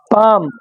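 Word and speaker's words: palm: पाम, यल गायब, है ना।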